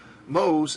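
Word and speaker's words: mho: two five moles remember mohs is the inverse of ohms it's spelled in reverse and is pronounced in reverse and you use the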